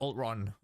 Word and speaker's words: Ultron: Now let's move on to Ultron.